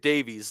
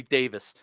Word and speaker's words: Davies: and by the way I'm pronouncing it Davies that if if you don't want to be called Davies take the E out of your name and then you can be Davis continue Andy yeah Davies